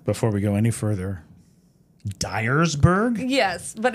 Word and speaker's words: Dyersburg: Before we go any further, Dyersburg? Yes, but it's spelled Dyersburg.